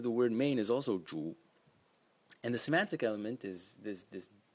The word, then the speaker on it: 主: And as you can see, the pronunciation of the word main is also zhu.